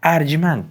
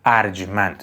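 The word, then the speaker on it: ارجمند: bā maghz-e ān arjmand" "arjmand" is accurate; I've noticed many pronounce it "arjomand" but that is incorrect "arjmand" is the correct pronunciation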